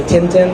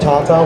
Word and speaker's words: Tintin: books with my mom in America we say Tintin but it was my mom said Tata with the European pronunciation um so I adore